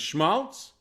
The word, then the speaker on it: schmaltz: for example that's schmaltz it's a yiddish word and of course the rhyme with shmaltz waltz so we went into